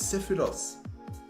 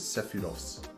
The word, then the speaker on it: Sephiroth: As you can probably see, the motif is sephiroth, which is how you pronounce it, okay? And I was in Japan and I learned that you pronounce it sephiroth and not sephiroth and not just sephiroth, which